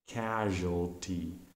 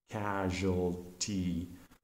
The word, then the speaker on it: casualty: some natural disaster so you have to pronounce a casualty casualty so the student hears that the first vowel sound sound is aa short act as in words Apple or fat and the there's a